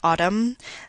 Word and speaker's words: autumn: many English words, or the N in a word like autumn, the B in a word like lamb, the K in a word like not.